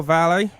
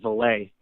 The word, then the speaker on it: Valle: All right, we're back with Gil Valle. Am I pronouncing your name right, by the way? Yes, you are. You are. You're not like Pat who says Valet.